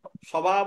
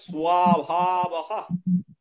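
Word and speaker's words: স্বভাবঃ: দোষ উপহত এই স্বভাবহ স্বভাব লেখা আছে স্বভাব বলা যাবে না বলতে হবে সভাবহ দন্ত তাই বফলা আছে তাহলে সভা সভা বলতে হবে ঠিক আছে তাহলে কি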